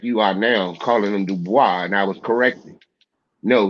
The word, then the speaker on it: Du Bois: I understand There's that no part, but the man did not pronounce his name Dubois. He pronounced linguist it Du pro, Bois.